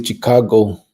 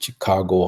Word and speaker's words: Chicago: Angel Chavez said, upper people say Chicago, soft C, south side, Chicago, hard C.